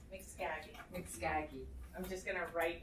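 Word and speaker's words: Mxkagi: It's in dragon speak. It's spelled special. Mixkagi.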